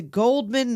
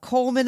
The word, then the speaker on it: Goldman: Corrects to Goldman, not Coleman. Oh, but in France it's this is silent in America.